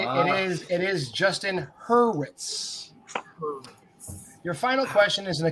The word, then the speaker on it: Hurwitz: the one who said who said it and pronounced it correctly it is it is justin hurwitz your final question is gonna come in musicals